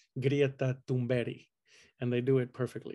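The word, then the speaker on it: Greta Thunberg: love greta and they love to pronounce her name correctly which is grieta dumbari and they do it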